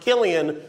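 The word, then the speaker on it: Cillian: few highlights of your boy Jimmy name it's pronounced Killian when he does drama when he does comedy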